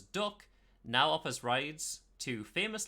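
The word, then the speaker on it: DUKW: over both land and water the Dirk also pronounces duck now offers rides to famous landmarks and launches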